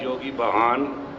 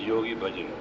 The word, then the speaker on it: Yogi Bhajan: I am known as Yogi Bahan in 60s. To pronounce correctly, it is Yogi Bhajan.